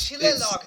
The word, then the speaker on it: shillelagh: We're not gonna pronounce half the letters because we're related to French people or something.